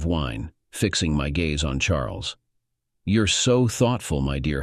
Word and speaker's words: Charles: fixing my Gaze on Charles you're so thoughtful my dear husband she replied Charles pronounced the French way as charl struck me as your